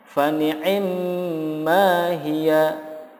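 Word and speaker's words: فنعما هي: Contoh berikutnya, fani'imma hiya. Jika waqaf, cara membacanya menjadi fani'imma hi. Hi-nya dipanjangkan.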